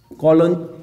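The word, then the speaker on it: Cologny: कॉलोन, ये जी silent है, Switzerland में, ठीक है।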